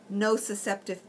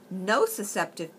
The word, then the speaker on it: nociceptive: nociceptive pain the difference between the two non no susceptive pain is a neuropathic pain that pain comes